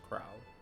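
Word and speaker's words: Krile: Now I have an official pronunciation. It's Krau.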